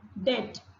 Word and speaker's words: debt: Debt, the letter B is silent.